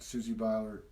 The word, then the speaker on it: Susie Beiler: One of the things that I love about Susie Beiler, did I say it right?